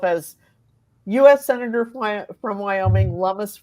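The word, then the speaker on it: Lummis: background the fact that her name rhymes with hummus does not have anything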